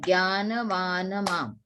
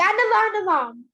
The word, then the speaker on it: ज्ञानवान्: Jnanavanamam. So it is 3 syllable. Jnanavanamam. Okay? 3 syllables into it. Okay. Jnanavanamam.